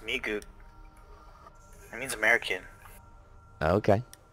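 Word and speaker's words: 미국: It's pronounced Migug.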